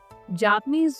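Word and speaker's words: japonais: In French जापानीज जो nationality है masculine के लिए होगा जापुने, जापुने, जापुने, सिंपल जापुने।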